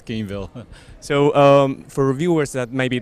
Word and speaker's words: Gamevil: Is that how you pronounce it, right? Not Gameevil. Not evil. Yeah, it's Gamevil.